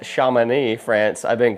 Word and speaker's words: Chamonix: Right now, I am in, apparently it's pronounced Chamonix, France. I've been pronouncing it Chamonix this whole time.